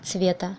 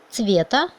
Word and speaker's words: цвета: Regardez le génitif de mot цвет, цвета, et le pluriel de mot цвет, цвета. On écrit ça pareil, mais c'est l'accent tonique qui change. Цвета et цвета.